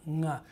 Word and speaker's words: nga: Because if you could take a velar nasal, the ng sound, nga, which is all over English, but it's never at the beginning of a word.